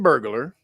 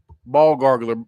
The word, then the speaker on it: burglar: Uh, so it says a convicted Algerian burglar. Ball gurgler. B, how you put that together? Ball gurgler. Not burglar. Burglar. Burglar. That's how you say it.